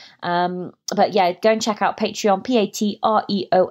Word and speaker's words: Patreon: my first of all I couldn't pronounce it so I was like patreon patron patron it was ridiculous very embarrassing but now I can say patreon and I started out